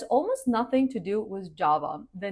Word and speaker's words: Java: Java. Java, just like the coffee. Java with the stress on the first syllable. And J, just like in jam or jacket.